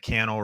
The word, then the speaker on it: Cannell: my name is canel rhymes with YouTube channel and I am answering